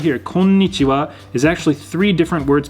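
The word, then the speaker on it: こんにちは: hiragana for wa but it's actually spelled with a ha at the end of it but it's pronounced as wah that's something i'm going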